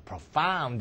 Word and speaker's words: profound: 그러면 모모다 이게 아니고요 프로파운드 엑센트가 뒤에 있죠 profound 이렇게 되죠 엑센트가 뒤에 있으면 무조건